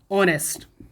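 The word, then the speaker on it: honest: ये है ऑनेस्ट और एन का प्रयोग इसके प्रोनाउंसिएशन के हिसाब से करेंगे। इसको पढ़ते हैं क्या, ऑनेस्ट।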